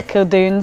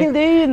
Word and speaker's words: Kildunne: People spell it wrong a lot. Or they say Kildunne. Or they say Kildunne. So Kildunne.